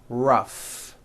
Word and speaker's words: rough: F sound Symphony and the last word rough notice the GH combination in that word rough let's work on this